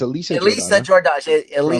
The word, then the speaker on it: Elisa Jordana: I said it wrong before. It's Elisa Jordana.